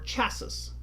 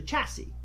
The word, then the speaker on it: chassis: but at the time I said Deborah's because that's the way it looks or chasis because that's the way it looks where it's actually chassis I hadn't been introduced